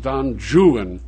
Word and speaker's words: Don Juan: For example, he read Byron's Don Juan, which Byron pronounced Don Juan for scanning purposes.